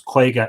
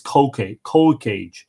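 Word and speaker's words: cúige: Now, the other night when we were doing our Ishnach episode, I said that the Irish for province was Quega. It is not. It is Cócage, which basically means a 5th.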